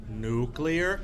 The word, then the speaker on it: nuclear: And the idea was we were going to put all of our allies underneath our nuclear umbrella. Nuclear, not nuclear.